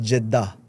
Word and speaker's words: Jeddah: And everybody was like, no, it's Jeddah. Oh yeah. It's like Jeddah. Jeddah. Something like this. Yeah. Everybody was saying I was saying it wrong, and so I'm trying